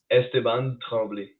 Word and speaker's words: Esteban Tremblay: Yeah, the accent, the right pronunciation. So say it right now. Esteban Tremblay.